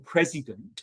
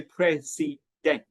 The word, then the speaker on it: president: So if you look at the third word, um, president, you can tell it's got three syllables. And if we're saying the stress is on the first syllable, the pre part of it, then that means that vowel in that particular syllable has to be clear. Okay? So we would say n clear. And because that's clear, the others have to be destressed. So we don't say prey dent.